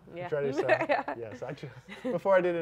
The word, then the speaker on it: Churrascaria: I never was able to pronounce it. Churrascaria. Yeah. Churrascaria.